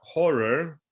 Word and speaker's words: Ho99o9: reviewing Horror, which is spelled Ho99o9, and their new album Skin.